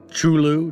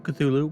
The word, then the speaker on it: Cthulhu: chulu chulu cthulhu whichever i think it's kind of debatable with the how it's pronounced um i know on smite uh it's pronounced shulu and i've heard cthulhu from a lot of people so i mean i